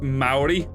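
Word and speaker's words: Māori: According to this YouTube video, it's Maori.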